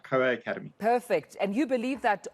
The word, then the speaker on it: COA Academy: Is it COA Academy? Good morning, Tamila. That's exactly right. COA Academy.